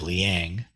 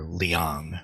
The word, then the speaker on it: Liang: And so when Bodhidharma met Emperor Wu of Liang, or Liang, sorry, my Indiana accent kicked in there, Liang.